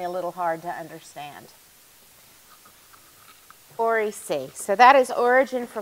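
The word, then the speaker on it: oriC: So when we're talking about chromosomal replication, that ORI is always called ORI-C. Just in case my accent makes me a little hard to understand. ORI-C.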